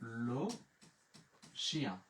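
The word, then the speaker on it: le chien: আর ই ও এন বরযাত্রী হচ্ছে ইয়া, তাহলে উচ্চারণ হয়ে গেল লো শিয়া, লো শিয়া।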